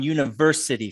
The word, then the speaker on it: university: good um can you get the third syllable on university for me that's where the stress is so it's university try that one more